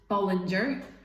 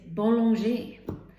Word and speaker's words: Bollinger: you, sadly, which is, it's not Bollinger, it's Bollinger. But this is another problem. How can I go into Tesco or Asda and say, looking for a bottle of Bollinger, please?